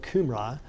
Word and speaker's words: Cambria: Sir John Rhys, both countries, speaking of Wales and Britain, of the Cumri, were for some times called Cambria, pronounced as if spelled Cumri.